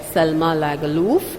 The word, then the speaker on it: Selma Lagerlöf: Selma Lagerlöf, it's pronounced like that.